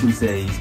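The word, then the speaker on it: Tbusage: Yes, it's pronounced Chusage. T-B-U-S-A-G-E.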